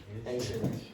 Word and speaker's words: ancient: Now, what's the problem? The T. Yeah, the T. Okay. So, again, uh almost all of you just eliminate the last consonant when you're pronouncing words in English. And because of that, you can cause problems with comprehension for native speakers. Okay. So, ancient ancient much better.